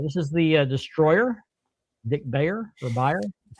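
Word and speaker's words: Beyer: Uh this is the destroyer Dick Bayer or Bayer. It's B- R. I'm not sure how you pronounce that. Byer or I think it's buyer. He was buyer.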